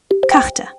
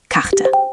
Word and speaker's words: Karte: Middle R. Karte. Map or card. Say Karte. Karte.